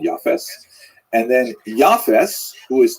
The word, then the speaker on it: Japheth: And I should pronounce that, by the way, in the Ashkenazic pronunciation, Japheth.